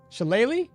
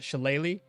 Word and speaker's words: shillelagh: Shillelagh? That's much easier to say. Shillelagh. Ah. Shillelagh. Okay. Yeah. Shillelagh. Looks like laugh, but okay.